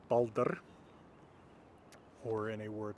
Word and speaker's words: Baldr: Anyway, Baldr shows you that syllabic R. So the R is actually the whole syllable. That isn't too different from English, where you have words like water, where the R is actually the second syllable for most American English speakers like myself.